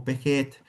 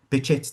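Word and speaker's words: Behçet: in our department was how do you pronounce Bett's disease so I can speak a little bit of Turkish and Bett is Turkish um in terms of his ethnicity. So I know people say bash or beet but if there's anyone any Turkish um speaking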